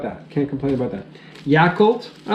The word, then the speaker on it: Yakult: can't complain about that can't complain about that Yakult I like my vehicle - every once in a while or do you say yeah cult your cult yeah cult and gemenese it's pronounced yeah I could yeah coup d'etat yeah